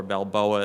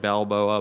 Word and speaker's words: Balbo: There's another one out of Indiana that is called Balbo or Balboa. It looks like Balboa, but it's actually pronounced Balbo.